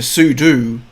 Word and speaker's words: sudo: I know it's super user do, so, but do is like, so sudo is how most people pronounce it, which I think is correct.